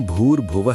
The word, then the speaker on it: भूर्भुवः: ओम भूर्भुवः स्वः, भूर में लंबा ऊ, स्वः के अंत में विसर्ग।